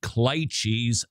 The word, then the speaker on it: cliché: I know that it's pronounced cliches.